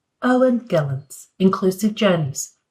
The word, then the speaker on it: Gelens: So it's Gelens, in English Gelens, and it's Schiphol, but it's very difficult to pronounce in English, but very good.